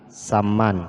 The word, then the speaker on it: Saman: Ya Saman Oke tari saman Hai Mari kita perhatikan dalam kata Saman Ya Saman ini adalah dua huruf bersamaan yang pertama mati atau sukun Hai yang kedua itu ada huruf Bantu aja dibacanya Saman itu contoh tari saman